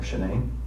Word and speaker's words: Shanann: And I don't want to pronounce her name wrong. Shanann.